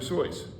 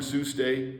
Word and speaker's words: Seuss: just that way okay it rhymes with voice so and he always would refer to himself when he was being Dr Seuss as Dr soy and he was Dr